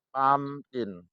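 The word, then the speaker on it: pumpkin: mumkin tapi membacanya kamkin pamkin ditulis pumkin dibaca pamkin Nah dari mana kita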